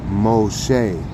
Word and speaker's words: Moshe: is you got yashar so instead of Moses it will be Moshe like Yasha that will be speaking